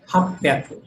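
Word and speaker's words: 八百: 800 में हक प्याकू, ठीक है, ऐसे बोलेंगे।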